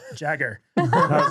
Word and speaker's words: Jagger: he he was like it's pronounced like my Uncle Nick's last name Jagger and I was like